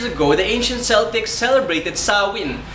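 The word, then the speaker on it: Samhain: two thousand years ago the ancient Celtic celebrated saw in its felt this way but pronounced saw in November one was their new year and october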